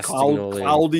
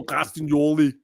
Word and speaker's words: Castagnoli: I can't say Castagnoli. You have to say it like Schwarzenegger. Claudio. Imagine BC. Claudio Castagnoli.